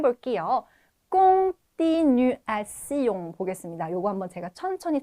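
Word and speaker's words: continuons: 꽁띠 뉴 아 용입니다 자 공에서 오앤 옹 이렇게 발음했던 그리고 맨 뒤에 있는 시용은 띠용 아닙니다 기본적으로 스용 이렇게 발음합니다 자 요거 한번 다시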